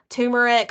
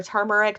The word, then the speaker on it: turmeric: and supplementation can help things like turmeric or turmeric depending on how you like to pronounce that has been shown